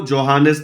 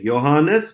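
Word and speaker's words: Johannes: कैसे प्रोनाउंस करते हैं इसको? जोहानेस नहीं, योहानेस Kepler was a German astronomer and mathematician.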